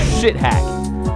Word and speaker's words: Schthack: One of them, everybody says it's not pronounced this, but how the spelling, how the spelling is, it's basically pronounced it. It's called Shit Hack. That's how it's pronounced.